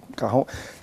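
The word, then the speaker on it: cajón: Carrão, isso aí. É carrão. Carrão. É carrão o nome. Se escreve cajão.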